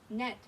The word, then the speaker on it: gnat: Ooh, lots of silent G, huh? Look, silent G, gnome, silent G, gnat, silent G, gnocchi.